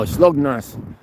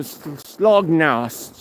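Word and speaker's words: Slagnäs: No, Slognas. When you see an A with an O on top, it's pronounced O. And so Slognos, not Slognas.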